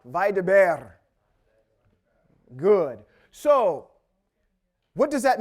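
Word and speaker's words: וַיְדַבֵּר: Vaideber. Roll that. Roll your R. Vaideber.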